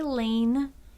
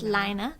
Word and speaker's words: Lina: So if you need Lina issue 6, some people say Lane, which I did when we first got it, but I'm been told that it's pronounced Lina because it is Scandinavian.